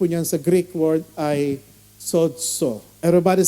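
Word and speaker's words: σῴζω: ibig sabihin po niyan sa Greek word ay sods everybody say sods Hwag niyo pong bibig ng Tagalog no ang Greek ah pronunciation po niyan Ay sods sods Anong ibig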